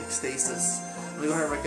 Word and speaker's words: Ecstasis: I mentioned Ecstasis, that's how it's said, Ecstasis.